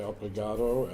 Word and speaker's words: obrigado: As a man you say obrigado, as a woman you say obrigada.